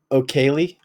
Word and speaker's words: O'Kelly: O'Kelly. So it's like people who have the last name like Kelly.